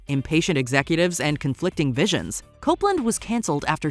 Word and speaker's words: Copland: number 13 Copeland cancelled no we didn't say Copland like the 1997 crime drama starring Sylvester Stallone pronounced Copeland this operating system got its